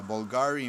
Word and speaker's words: Bvlgari: when I graduate uh Bulgari Man in Black that's how it's pronounced I think and again it smells